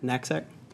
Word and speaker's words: knapsack: Knapsack.